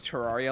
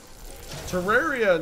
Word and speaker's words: Terraria: you think is cool Terraria now that you say it that way is probably how it's supposed to be pronounced because it sounds like terrarium yeah yeah but i'